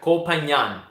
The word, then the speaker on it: Koh Phangan: I have to get the pronunciation right. Koh Phangan.